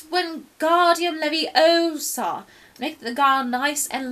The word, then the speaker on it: Wingardium Leviosa: saying it wrong it's Harry Hermione snap its Wingardium Leviosa make the girl nice and long but you